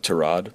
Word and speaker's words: Tyrod: It's correctly pronounced Tyrod, but he doesn't correct people.